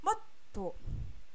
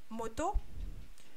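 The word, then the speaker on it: もっと: Par contre, avec une consonne double, ça voudra dire « plus » ou « encore ». Et ça se prononce « moto ».« Moto ». Donc, je répète, hein, « moto ».« Moto ». Il y a vraiment une pause, c'est « moto ».« Moto ».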